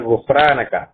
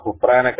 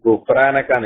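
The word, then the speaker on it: غفرانك: അതെ, ആണ് ഗുഫ്രാനക്ക. അത് നമ്മൾ ഇംഗ്ലീഷിലേക്ക് മലയാളത്തിലേക്ക് മാറ്റുമ്പോൾ നേരത്തെ പറഞ്ഞതുപോലെ പല രൂപത്തിലും ഒരാള് കണ്ടോ ഹുഫ്രാനക്ക എഴുതി, മറ്റാള് ഉഫ്രാനക്കാണ് എഴുതി, വേറൊരാള് ഗുഫ്രാനക്കാണ് എഴുതി. പല രൂപത്തിലാണ് വരാറുള്ളത്. പക്ഷേ ശരിയായ രൂപം അറബി ഉച്ചാരണം തന്നെ വേണം.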